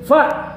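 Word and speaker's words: ف: Huruf fa itu harus dengan gigi. Qad afla'a man tazakka, qad afla'a man zakkaha, qad aflahal mu'minun. Nah, itu pengucapan fa-nya belum sesuai dengan makhrajnya. Makhraj fa itu adalah bibir bawah bagian dalam dengan ujung 2 gigi seri atas.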